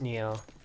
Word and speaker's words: N2O: Yeah, Neo is pronounced uh or N2O is Neo.